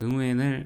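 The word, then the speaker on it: Nguyễn: 그 응우엔이라고. 응우엔 한국의 발음으로 완으로 한 거고 근데 사실 완식 없잖아요.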